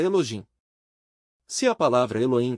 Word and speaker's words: Elohim: tem som, se pronúncia como J, de maneira que sua pronúncia exata é Elojim.